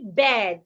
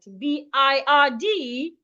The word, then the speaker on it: bird: So B I R D should not be pronounced bed. Please pronounce it as bird.